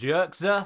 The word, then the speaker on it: Zirkzee: On Sky yesterday, Ronald de Boer said it's pronounced Zirkzee, so I'm sure we'll find out more on how it's properly pronounced over the course of the next few days and weeks. But I'll just say Zirkzee for the point of this video.